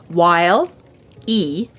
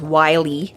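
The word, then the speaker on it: Wile E.: the whole joke is it's while E coyote it's how it's spelled w-i-l-e middle initial E coyote the joke being of course that it's Wiley Coyote because being Wily is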